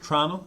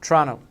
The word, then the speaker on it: Toronto: Now, people Is that from how you pronounce it? Trano? Trano. They miss the O.